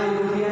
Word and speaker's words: European: यहाँ यूरोपियन है, EUROPEAN, यूरोपियन, इसको यू बोल रहे हैं।